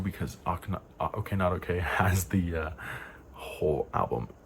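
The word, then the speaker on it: OKNOTOK: o KN o this is how I always pronounce it my head but it's okay not okay and it's the bsides of Okay computer and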